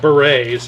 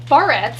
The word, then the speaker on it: barrettes: We picked up a bag of berets, and the only reason. It's barrettes. Barrettes, yeah, whatever.